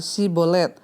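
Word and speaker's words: שיבולת: memakai tes pengucapan kata si Bolet adalah kata yang berarti Sungai orang ifraim mengucapkan si sebagai S sehingga tentara-tentara yfta bisa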